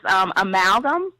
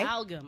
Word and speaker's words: Amalgam: I mean, and the name of your store is, I don't want to mispronounce the name, so please. It's that is what everybody says. It's Amalgam. Okay. Amalgam.